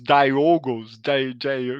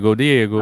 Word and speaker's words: Diogo: Como é que eles pronunciam o teu nome? É, como tem espanhol já é bem mais comum lá, e tem muito Diego, né? Diego. Ah, Eles falam Diego. Diogo. Diogo.